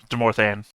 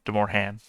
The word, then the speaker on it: Demorthan: It's weird that the T is pronounced in that word, though. Demorthan, not Demorhan.